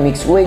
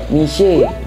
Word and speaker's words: Mixue: mixway-nya guys ini ngomong-ngomong katanya bacanya itu bukan mixway guys tapi mish m gitu ya kita lihat dulu